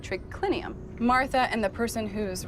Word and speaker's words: triclinium: i n u m in Latin it's spelled as it sounds but here trinium has